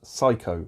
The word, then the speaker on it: Psycho: written p double e it's pronounced psycho as in psychopath did you not learn